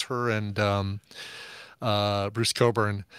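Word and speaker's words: Cockburn: Buu r n but don't pronounce that uh like the way it's it's written uh oh oh yeah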